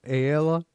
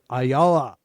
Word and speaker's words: Ayala: Ray, I always say his name wrong. Ayella Ayala. Ray Ayala.